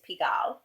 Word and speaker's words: Pigalle: looked up that's how I found out this pronunciation is piggle and it's an area in Paris and it's